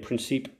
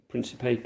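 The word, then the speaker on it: Príncipe: the public of Congo Gavin Sao Tome and princip Principe and it has pronounce apologies we are thankful for healing some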